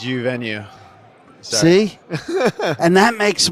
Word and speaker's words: Uvenu: Did I pronounce it right? It's U venue.